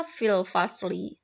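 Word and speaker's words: في الفصل: Kalau membacanya ya fil fasl. Kalau mau ditulis, kalau kalian nulis untuk tahu itu harokatnya, jadi fil fasli.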